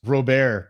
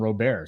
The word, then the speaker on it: Robert: with the pronunciation mangoins Luis robare pronunciation he saw I he saw that video like six years ago when the guy lived where the hell he was living and then he just started calling him Robert so I don't get